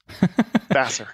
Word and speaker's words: Vassar: How's that pronounced? Vassar.